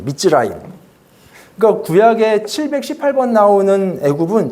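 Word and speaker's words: מצרים: 이제 이스라엘 말로 이렇게 써 있는데 이거는 발음이 미스라임이에요. 미즈라임.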